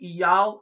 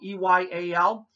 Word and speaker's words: Eyal: You can call my tour agent, Eyal Evan. His name is spelled E-Y-A-L.